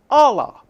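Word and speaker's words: الله: the an and Arabia the Arabic pronunciation for God is Allah and we have different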